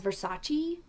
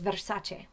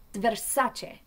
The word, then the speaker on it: Versace: But the correct pronunciation is Versace. It's Italian pronunciation rolls the RA little bit, puts an emphasis on the A and has a shortstop to that east on the end, Versace, not Versace.